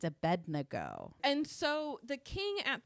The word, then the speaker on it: Abednego: And so I kept having to pronounce it. It's Abednego.